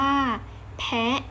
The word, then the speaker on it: แพะ: คำ ต่อ ไป เป็น สระ เสียง สั้น คือ คำ ว่า แพะ พอ บวก อ่าน ว่า แพะ พอ แอะ แพะ อีก ครั้ง นะ คะ พอ แอะ แพะ ทุก คน ออก เสียง ตาม นะ คะ คำ ต่อ